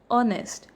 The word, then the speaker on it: honest: Now when we talk about this word honest, even it is H, we pronounce it as O, honest, and hence it is going to be an honest.